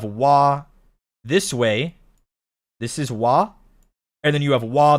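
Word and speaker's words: は: So wati wii right watashi wah is if you spell it in English is this but you have wah this way this is wah and then you have wah the particle but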